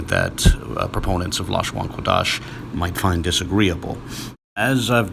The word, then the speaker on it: לשון הקודש: In a standard understanding of Hebrew, it's typically vocalized Lashawan Quadash.